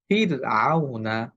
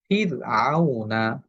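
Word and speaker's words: فِرْعَوْن: র হরফটার উপরে যখন সুকুন হয় তখন আমরা খেয়াল করবো তার পূর্বের হরফে কি আছে। তার পূর্বের হরফে যদি জের হয় তাহলে এই রটা পাতলা করে উচ্চারণ করতে হয়। যেমন ফির আউনা ফির আউনা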